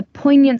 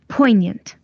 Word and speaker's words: poignant: Say poignant. Once more. 1 minute, Grace, I'll bring the charger. 1 minute. Yes, we were at poignant. Poignant. G is not pronounced, it's silent because after it there is N.